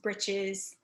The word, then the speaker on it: breeches: stockings uh shoes and breeches which uh could also be pronounced britches those are the pants of